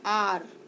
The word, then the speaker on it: hour: लेकिन यहाँ देखिए HOUR, इसको हम हवर नहीं बोलते हैं, इसको हम बोलते हैं आर।